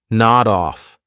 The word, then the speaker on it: nod off: So notice I'll take that D sound and I'll connect it on the off, but I have to combine it together. Nod off, nod off, nod off to nod off.